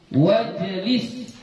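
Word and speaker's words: وَاجْلِسْ: dia dianggap tidak ada Jadi kita bacanya wajib wajib ya langsung kepada huruf Jim hamzahnya ini enggak dibaca ya kita baca langsung waj wajlis gitu ya wajelis itulah dia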